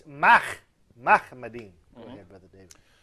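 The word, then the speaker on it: מחמדים: First of all, that is a mispronunciation of the Hebrew term, which is Mahmadin, mm-hmm. not he said Muhammadin. But even that im is wrong, but he did not pronounce the Hebrew che. It's Mahmadin.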